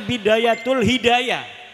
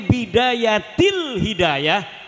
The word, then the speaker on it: Bidayatil Hidayah: Karena deke maca Bidayatul Hidayah. Harus sebah dibacanya Bidayatil Hidayah karena ana huruf jerbe.